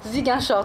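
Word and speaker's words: Ziguinchor: zingy Shore au Sénégal c'est bien comme ça qu'on prononce ziginch ziginchore très bien donc quel est le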